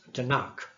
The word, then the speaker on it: Tanakh: and you have T-N-K, and then you pronounce it as Tanakh.